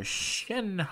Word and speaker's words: Shenhe: Today I'm going to be summoning for Shenhe. I believe that is how you say her name, or at least that's how she said it on the character trailer.